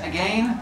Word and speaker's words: again: And then why do we have to pronounce this as again? Because it rhymes with lane.